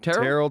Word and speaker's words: Terrell: Is that how you pronounce Terrell? Yep. Terrell, Texas, in between Dallas and Tyler.